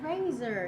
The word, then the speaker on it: Razer: Razor.